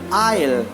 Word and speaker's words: aisle: following words the later s is not pronounced before L in the following words see here this is